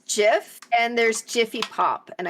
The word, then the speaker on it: Jif: They said that there was never Jiffy.